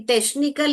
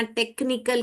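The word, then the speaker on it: technical: ट अ श टनिकल अभी टशनिकल करेक्ट है यहां टचिकल करेक्ट है या टेक्निकल करेक्ट है? हां, यहां पर सीएच ने क्या किया? क साउंड निकाला। टेक्निकल टेक्निकल नहीं है। टेक्शिकल भी नहीं है।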